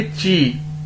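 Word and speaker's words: 几: Pronounce इसे कैसे करेंगे? ची, ठीक है।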